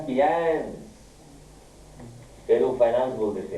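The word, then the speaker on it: fiancé: तो फैंसी कहते हैं सर? गलत नहीं, पहले बताओ मुझे। जस्ट FIANCY FIANCY, आपने स्पेलिंग गलत बोली।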